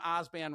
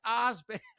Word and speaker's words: Osband: it's no or she'll pronounce my last name Oban wrong and he'll be like it's Ozban.